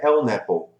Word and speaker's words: LNAPL: Que colocando em sigla seria um LNAPL, que aí ficou muito famoso aqui no Brasil de falar essa pronúncia em inglês, seria LNAPL, né?